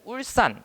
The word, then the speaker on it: 울산: 자, 그런데 마지막에 울산 같은 경우에는 울산 이거는 울산 이렇게 발음이 되잖아요. 그렇죠? 된 소리로 사실 발음이 되죠.